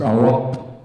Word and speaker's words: Iraq: Oh, by the way, that name is not Iraq, it's Iraq. That's how you pronounce it.